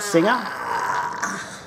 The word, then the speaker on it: Singha: fourth run which is seer would be pronounced that singer I'm see which is